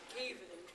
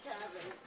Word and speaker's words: Caven: before I forget, it's pronounced Caven, not Gavin.